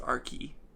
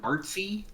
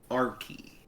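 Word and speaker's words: Archy: editor justin gabriel um notes uh archie is pronounced arkey yeah because it's spelled a-r-c-h-y which so you might think what artsy no r-key archimedes yeah and uh justin gabriel the editor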